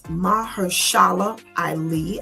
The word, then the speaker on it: Mahershala Ali: Okay, I don't know how to pronounce his name. He is Mahershala Ali.